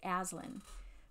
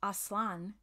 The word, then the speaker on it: Aslan: gonna be honest that's not how I've been pronouncing it I think I used to say Aslan but Aslan is how they're saying it so today when